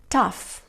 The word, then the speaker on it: cough: siguientes palabras por favor caf más casa hola enough que ya estas palabras lo que tienen en común es que la combinación gh se produce como efe ok esto es muy